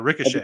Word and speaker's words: Ricochet: and that is Logan Paul versus rickachit uh Ricochet that's how you pronounce it yeah yeah which for the longest